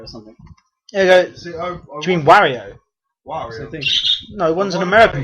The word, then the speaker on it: Wario: and there's like one for like a year Warrior or something you mean Wario Wario no one's an American pronunciation okay um Black Flag is coming out